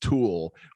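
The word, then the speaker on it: Thule: how you pronounce it it's t-h-u-l-e and somebody told me it's pronounced tool but i fool it's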